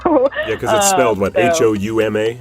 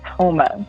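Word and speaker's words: Houma: me and I say how do you say this Hou MA is that right yes exactly exactly so yeah they're yes Toma so there's there's a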